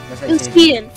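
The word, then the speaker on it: Lucien: Lucian.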